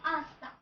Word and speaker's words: hasta: another means ice cream so these have etch in the beginning but they are silent so it will sound like asta pleased to meet you